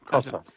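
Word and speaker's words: Kossoff: Is is it Kasaf? Is that how you pronounce it? Yeah. Kasov.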